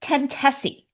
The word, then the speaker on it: Tentosy: with their outdated rules I had to check with them on just how to pronounce this band's name which they confirmed my two guesses of course were completely wrong it should be tessi Google translate just threw